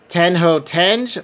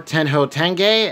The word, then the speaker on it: Tenjho Tenge: So last up, now I might be saying the last part wrong because I've heard it pronounced a couple different ways. So we have Tenjho Tenge or Tenjho Tenge, as I've also heard it, the complete collection.